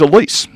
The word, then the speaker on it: Alyce: she is a female but her name is Elise and her name is spelled a-l-y-c-e she was born in the late